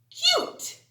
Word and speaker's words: cute: cut super last word how many vowels in this word two that's right so the first one is long and then next one is silent so this word says cute oh so cute yes